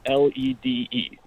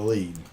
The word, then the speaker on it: lede: Like the phrase burying the lead. I thought it was LEAD. No, it's LEDE.